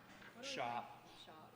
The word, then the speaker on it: Sharp: So everyone, please welcome Ben Castellana, and then also the very talented Sharp. Yeah. Woo. We should correct the pronunciation. Shop.